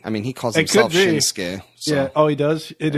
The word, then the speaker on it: Shinsuke: I think that they were probably just mispronouncing it back then. I mean, he calls himself Shinsuke.